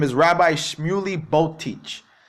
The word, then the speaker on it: Boteach: See how they say his name? Boteach, Botech, right?